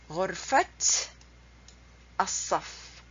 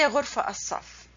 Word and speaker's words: غرفة الصف: Ghurfat as-saf. You don't say ghurfa as-saf. If you say ghurfa as-saf, that has no meaning. The way you pronounce it, غرفة الصف, the classroom.